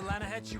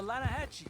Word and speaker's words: Lanahatchee: The other day, I rode down to the Lanahatchee River. I caught some beautiful steelhead trout. You mean the Lanahatchee River? No. The Lanahatchee. It runs right near here. Yeah, but it's pronounced Lanahatchee.